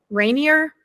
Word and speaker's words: Rainier: Rainier?